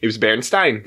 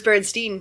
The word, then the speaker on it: Berenstain: But it was still the same thing. But it's Stain.